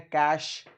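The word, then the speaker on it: cache: इसका उच्चारण होता है कैश।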